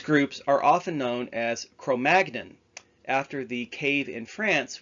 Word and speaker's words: Cro-Magnon: The more common English pronunciation with a hard G, Cro-Magnon, is just an anglicized version of the true French pronunciation, Cro-Magnon.